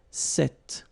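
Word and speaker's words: cet: it's quite interesting because if you listen carefully the masculine form here set and The Feminine form here set you write them differently but then you pronounce them the same way all right for the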